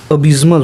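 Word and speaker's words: abysmal: देखिए अबज्मल होता है। इसका मतलब इसको प्रोनाउंसिएशन ऐसे करते हैं।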